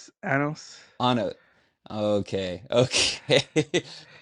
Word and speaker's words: Anos: Is it Arnis? Anos. Ano. Okay, okay. How, I didn't how do want they to.